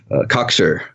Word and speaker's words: cocksure: I was cocksure and headstrong. So emphasis on the first syllable.